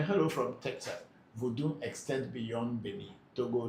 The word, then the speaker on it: vodu: So we say vu.